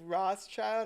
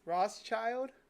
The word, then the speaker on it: Rothschild: apparently what is this Rothschild I spell that right like our oths yeah like David Lee Roth you keep saying Ross Ross child yep complete list of